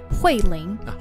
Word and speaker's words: Huiling: What is the tones of your name? Huiling. Huiling? Yeah. Okay, so it's fourth tone and second tone.